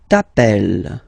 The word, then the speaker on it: t'appelles: Alright, second form, tu t'appelles. Okay, remember, final S not pronounced.